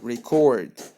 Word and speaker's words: record: Okay, please take care because we have record as a verb and we have record as a noun. Both are the same letters, have the same letters, but please take care when you pronounce them. When I want to talk about a verb like record, I want to record a video or record something, you have to say it record.